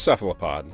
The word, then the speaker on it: cephalopod: and he said now I've only ever heard it pronounced cephalopod so it seems that